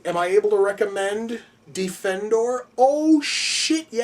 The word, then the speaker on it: Defendor: and at that point he mispronounces the name the way everybody else does which is just calling him Defender as opposed to defendor uh once more that